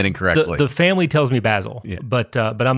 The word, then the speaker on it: Basil: is uh you know basil is an English pronunciation Basil's more of an American pronunciation yeah it's also uh